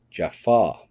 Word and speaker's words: Jaffa: And for further proof, the main warriors that protected the Goa'uld fake gods in Egypt were called the Jafar, pronounced in the show as Jafar.